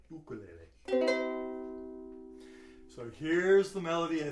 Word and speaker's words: ukulele: That's how they pronounce it in Hawaii, ukulele.